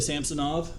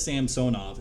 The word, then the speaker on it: Samsonov: um it's samsonoff Ilia samsonov uh he wanted his name or pronunciation of his name change from San Soma oh my goodness it was Sam sonov and now it's samsonov um no idea why